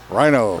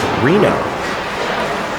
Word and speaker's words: Rhino: It's actually pronounced Reno.